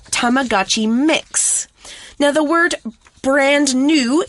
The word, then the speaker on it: M!X: 本 and it's called Mix. That's right. It's spelled M!X, but it's pronounced like mix, M-I-X, even though it has the exclamation mark.